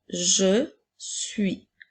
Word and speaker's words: suis: être maintenant nous avons je suis commence par écrire les lettres par dire les lettres du mot je et ensuite les lettres du mot suit n'oublie pas la lettre muette à la fin maintenant nous avons il